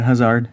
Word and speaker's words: Hazard: We have Hazard and is that how you say his name? Yeah, Hazard, yeah.